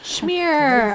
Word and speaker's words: schmear: Schmear. I told you that's the best way to pronounce that.